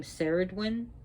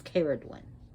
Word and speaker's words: Cerridwen: Now, some people pronounce her name Cerridwen. That's not, because they're pronouncing the C as a cell instead of K, like in cat. But it's Cerridwen.